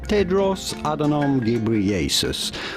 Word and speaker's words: Tedros Adhanom Ghebreyesus: good reason so how do you go about pronouncing his name simply in english or american tedros adenom gabrielesis or tedros adenom gabrieles ted ross adanam gabrieles